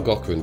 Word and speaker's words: Gaughran: You should spell Gaughran, by the way. Oh yeah, G-A-U-G-H-R-A-N. It rhymes with Schwarzenegger.